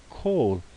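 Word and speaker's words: כל: I wanted to show you kol is really how you would pronounce this, and it's going to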